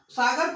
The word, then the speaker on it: सागर: तो जो सागर था, क्योंकि इंग्लिश जो अंग्रेज थे उनका जो प्रोनाउंसिएशन था, सागर को वो सागौर बोल रहे हैं और नर्मदा को वो नेरबटा कहा जा रहा था।